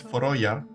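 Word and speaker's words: Føroyar: I pronounced them in Danish, but Faroe Islands, yeah. Faroe Islands, but the original name is Foroya.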